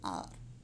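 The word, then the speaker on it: hour: the third example r the spelling has h at the start but h is silent we don't say we say r the first sound of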